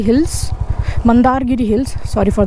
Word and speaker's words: Mandargiri: We will leave तो यह देख लो आपका मंदागिरी hills. मंदारगिरी hills sorry for the pronunciation.